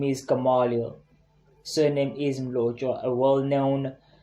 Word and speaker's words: Gamaliel: It's Gamaliel. Now when they ask me, what's your name? It's Gamaliel, but you can call me Gama.